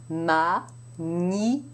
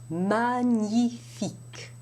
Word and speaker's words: magnifique: In French, you don't have that separation of sounds at all. It is one single sound, and it's pronounced in the central part of the mouth. Gn. Magnifique. Magnifique.